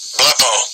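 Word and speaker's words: βλέπω: Blepo. Yeah, and that would be the pronunciation in the Greek for this word heed,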